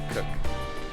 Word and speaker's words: Krk: it's Krk. We absolutely butcher pronunciations, by the way.